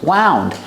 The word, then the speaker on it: wound: lights around the Box wound make the sound Ow like out and about wound I wound the